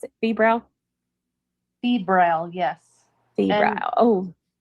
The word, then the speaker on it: febrile: Is that how you pronounce it? Febrile? Febrile, yes.